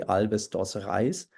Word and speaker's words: Alves dos Reis: Think of the criminal case of Alves dos Reis, I think. The name is pronounced that way, Alves dos Reis, a criminal case which happened in the year 1924.